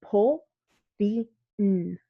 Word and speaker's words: Pauline: And so the way that you pronounce it in Japanese with katakana is Pauline. So you go Po-ri-n for my name, but they didn't know that.